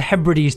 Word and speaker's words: Hebrides: does it does sound it pronounced Hebrides um not the he Brides that's a very different thing sorry sorry I